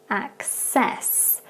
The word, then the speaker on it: access: some slight differences so with the first one if you listen again its access so with that C sound it becomes more like a K and an S at